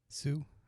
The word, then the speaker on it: Hsu: Stephanie Hus, how do you pronounce HSU, Ivan? HSU? Yeah. Sue?